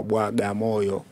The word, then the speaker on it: Bagamoyo: limefiti imekuwa baga moyo lakini uwasilia wake ilikuwa inatamkwa bwa gamoyo okay sawa unaweza ukatuambia